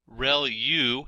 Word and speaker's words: ReLU: ReLU is how that is pronounced, and that's the rectified linear unit.